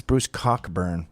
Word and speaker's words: Bruce Cockburn: That's Bruce Cockburn. Oh.